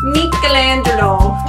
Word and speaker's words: Michelangelo: to learn about but in Italian it's Michelangelo mangelo and his full name